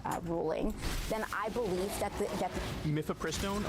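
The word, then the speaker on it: mifepristone: saw happen in this myth pristine ruling then I believe that mythopristone okay I have no doubt she's saying it correctly and I was saying it incorrectly this entire time myth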